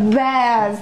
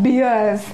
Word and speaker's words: bears: it bath not beers many people pronounce it as beers but it is not beers it is bears what is it Bears